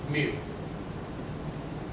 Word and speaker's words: mu: It's mu. It's pronounced mu.